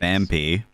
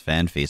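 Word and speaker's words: Phanpy: Fanpy. People pronounce it as Fanfy sometimes.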